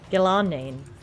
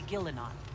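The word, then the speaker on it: Ghilan'nain: Gillanane. That would be Gillenon, mother Oh, of the Hollow.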